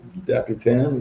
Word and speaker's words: Dapitan: Dapitan, is that how you say it?